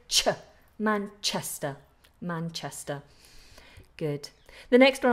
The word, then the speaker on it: Manchester: of London Manchester Airport Manchester Manchester make sure that CH is more explosive sure Manchester Manchester good the next